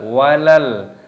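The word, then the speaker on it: وَلَلْ: Di sini terdapat lam sukun dibaca walal.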